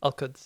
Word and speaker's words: Al-Quds: Al-Quds, yeah.